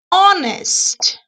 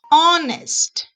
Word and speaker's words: honest: the letter h okay honest honest like shayla said the h is silent okay so we have